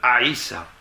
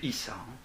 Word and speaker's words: Isa: Ce nouveau visage porte le nom de Aïssa. Donc ça s'écrit I-S-A. C'est souvent prononcé Issa.